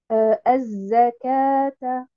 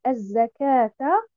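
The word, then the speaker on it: الزكاة: Par exemple, le mot az-zakata. Donc, vous voyez bien le mot az-zakata quand je le prononce. Donc, après harf al-kaf, il devrait y avoir alif al-maddiya. Mais dans l'écriture, nous retrouvons al-waw al-maddiya.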